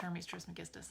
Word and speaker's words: Hermes Trismegistus: Hermes Trismegistus, the legendary sage, mage, god of ancient Egypt / Greece / all of the Hermetic philosophies is pronounced Hermes Trismegistus.